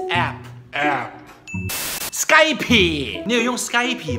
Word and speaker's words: Skype: Skype. 你有用 Skype 吗？所以还有人用 Skype 吗？ Why do people always have to stress that P? P 啦。懂读的。It's Skype.